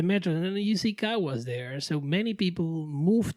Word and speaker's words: Caguas: Caguas. Caguas.